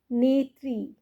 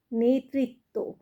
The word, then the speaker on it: নেতৃত্ব: না কাজেই মাতৃ আর নেত্রী নেত্রী নেত্রী কিন্তু নয় নেতৃত্ব নেতৃত্ব কিন্তু নয় নেতৃত্ব তয় ঋর উচ্চারণ এইভাবে করতে হবে তাহলে কি বলবে অমৃত